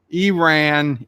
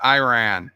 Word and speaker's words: Iran: Nicole says Iran is pronounced with an E sound. Iran, Iraq. Not to be. Not to be. I call it Iran.